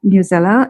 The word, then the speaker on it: Newsela: i find really really uh important is news newsela it's dub it's it's spelled n-e-w-s-e-l-a i have it in my list